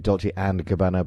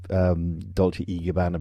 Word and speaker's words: Dolce & Gabbana: It's supposed to be Dolce and Gabbana, but I do the Dolce e Gabbana because that's how they pronounce it in Europe, sorry.